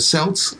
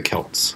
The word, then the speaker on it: Celts: taking it from the cells way back though for first Britons they're called the cells are the Celts the its pronouncing it's the same word that you can pronounce either way well I know but